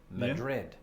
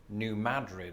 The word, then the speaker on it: New Madrid: words like many people i've been pronouncing it just like the spanish capital madrid but for the locals it's not just a pronunciation shift but one of emphasis they emphasize the first syllable as in new madrid and this is an